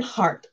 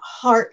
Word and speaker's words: Hart: My name is Hart, and it's not heart like the muscle. It's H-A-R-T, as in my last name.